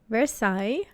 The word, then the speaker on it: Versailles: Versailles is, you can spell it like VERSAILLES. Versailles.